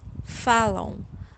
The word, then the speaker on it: falam: Vocês falam, vocês falam. Eles falam, eles falam. Elas falam, elas falam. And we'll pronounce letter M here as W.